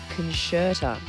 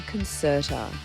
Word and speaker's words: Concerta: Also, apparently I've been saying concertera and a few people have pointed out that it's actually concertera because, and I quote, there is no sh in concert, which is fair, but here's how my brain got there, right?